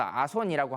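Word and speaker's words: 朝臣: 그래서 두 번째 계급을 보면 조신이라고 써서 아손이라고 하는 계급이 되겠는데요.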